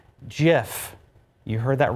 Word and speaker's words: GIF: Peanut Butter with the GIF on the label, GIF, to prove it should be with a hard G. By the way, the creator of the image format says it is pronounced Jif.